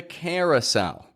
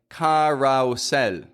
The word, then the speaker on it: carousel: collect your luggage you collect it from the carousel carel now it's spelled like Carousel Carousel c a r o u s e